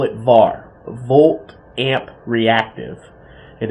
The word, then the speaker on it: VAR: Reactive power, we call it VA reactive, volt amp reactive, or we just pronounce it as VAR.